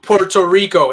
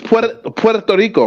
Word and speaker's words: Puerto Rico: Usually people would say Puerto Rico. There's no O in Puerto Rico. No, that's why I appreciate that. It's Puerto Rico, right?